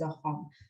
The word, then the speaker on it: Assam: hotria even my name is assam is pronounced as a hom so this sound is